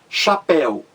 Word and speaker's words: chapéu: vamos aí aos exemplos chapéu você vê que a palavra chapéu tem duas sílabas chapéu a mais forte aí é a última sílaba grite aí que